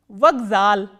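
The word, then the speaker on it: вокзал: Vagzal, vagzal. Again, K, which is a voiceless consonant, has been pronounced as its voiced counterpart, which is G, vagzal.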